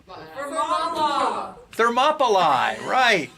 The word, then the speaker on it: Thermopylae: Thermopylae.